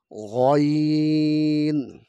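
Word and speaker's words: غ: এখানে যে হরফটা দেখতে পাচ্ছি এটা হলকের শেষ থেকে উচ্চারণ করতে হবে। যেরকম গইন, গইন, গইন, গইন।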